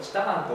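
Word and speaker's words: 知多半島: 基礎側の水を知多半島こ知多半島と読むます知多半島に引き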